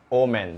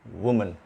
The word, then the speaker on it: woman: So many people pronounce it omen. That's wrong. This is woman.